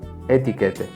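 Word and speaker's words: étiquette: Solo veo ventajas en pasar de la ética, éthique, del psicoanálisis a la etiqueta, etiquette, del psicoanálisis.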